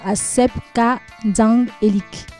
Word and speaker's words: Asep Ka Nzang Elik: encore moins votre slogan Asep Ka Nzang Elik. Qu'est-ce que cela signifie? C'est comme ça que ça se prononce, du moins en Toumou, parce que c'est mon dialecte.